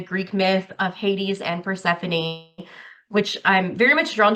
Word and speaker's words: Persephone: Maybe I didn't pronounce it right. Persephone, is that the Oh, Persephone. Persephone? Say it again. Persephone.